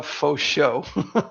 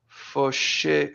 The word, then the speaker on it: Fauché: it's a faux show. It's just literally for show. Literally for show. It's Okay. faux show. Faux show. Fauché.